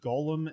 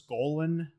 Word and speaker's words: Golan: want to point out i think you pronounce it gollum in globe as it's golan oh there is a